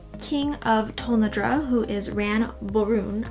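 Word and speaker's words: Ran Borune: of tondra who is ran baron i think is how you say his name um man varun at least that's how it's spelled to me i would say that and he doesn't want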